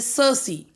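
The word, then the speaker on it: Circe: नाउ the next one is, here the word is सर्सी, इसका pronunciation है सर्सी।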